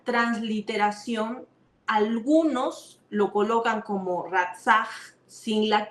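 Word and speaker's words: רצח: pronuncia de esta forma, ratzah. Ratzah. Repite conmigo, a ver, es como un jalón acá, es como si quisieras botar una flema. Es ratzah, ratzah.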